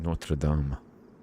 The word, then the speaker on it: Notre Dame: Notre Dame always makes me laugh because we pronounce it Notraam, but that's another debate we're not getting into.